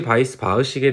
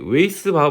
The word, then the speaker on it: Weisbach: 달시라는 분이랑 바이스 바흐라는 식으로 합쳐져 있고, 저도 처음에 이게 웨이스 바흐 막 이런 식으로 읽었는데 이게 영어가 아니었던 거죠.